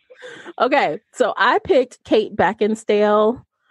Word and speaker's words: Beckinsale: so I picked Kate Beckinsale I think I mispronounced her name Beckinsale there we go yeah there's no D in there um so I just